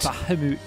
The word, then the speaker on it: Bahamut: No, we called it Bahamut, but it's actually pronounced Bahamut. Bahamut.